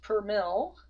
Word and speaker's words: per mil: end we have this little symbol which is pronounced per mil originally it was per me mil so French